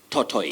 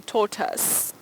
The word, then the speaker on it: tortoise: of daughters yes thoughts everybody believed it tortoise tortoise but it's actually taught us or led let's hear